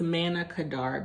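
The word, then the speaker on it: Manna Kadar: I am supplied with one okay so it's Mana Kadar Beauty I just had to look that up so I pronounced it correctly this is actually a video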